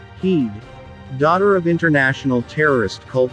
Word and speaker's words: Head: before he takes office in the white house luther cuts ties with his own company lexcorp turning over leadership to talia head pronounced heed daughter of international terrorist